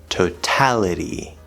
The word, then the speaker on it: totality: nice strong t sound also notice at the end of the word totality we have a weak t sound between two vowels so we have it totality so we actually have a strong t and both weak t's in the same word that can happen now